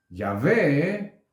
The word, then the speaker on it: Yahvé: Allí dice, además dijo Elohim a Moshe, así dirás a los hijos de Israel, Yahvé, lo pronuncio de esta manera porque aunque está escrito de otra, y esa palabra entonces tiene una letra pequeña, una letra A pequeña en la parte superior derecha.